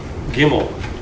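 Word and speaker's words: gimel: next one is G Kimmel Kimmel and it's just a G and actually it has the same hard G sound whether it has the dog or not there was once a time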